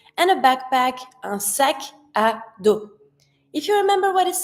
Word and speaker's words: sac à dos: And I connect, sac à dos, like if just one word.